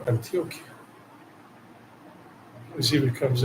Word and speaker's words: Antioquia: Not Antigua, Antioquia.